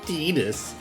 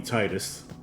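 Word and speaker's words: Tidus: And actually, it's Tetus. Yes, I know it's Tetus, but I don't like that pronunciation. So, it's going to be Titus.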